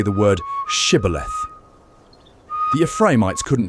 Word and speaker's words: Shibboleth: They ask them to say the word shibboleth. The Ephraimites couldn't pronounce the esh sound. They said siboleth, and they were killed.